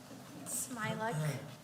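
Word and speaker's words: Smialek: htz again SM a smile it's smile smile smile yes um my name is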